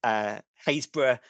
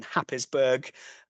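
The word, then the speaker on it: Happisburgh: to do this, because we have places like Haysborough, which, if you're going to read it phonetically, is written Happisburg. yes. It's a great place, fantastic pub. We've got Stooky, which is again Stiffkey if you're going to read it out as it's written.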